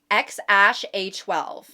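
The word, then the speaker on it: X Æ A-12: And apparently it's supposed to be pronounced Xash A12.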